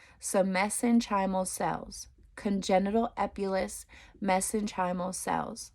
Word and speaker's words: mesenchymal: be anything congenital messenger okay messenchymal I'll just spell it out because I don't think I'm saying it right so m-e-s-e-n-c-h-y-m-a-l so messenchymal cells congenital epulus mesenchymal cells okay it can